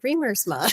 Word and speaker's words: Riemersma: I have spent the last 30 years of marriage spelling R I E M E R S M A. I pronounce it reamer.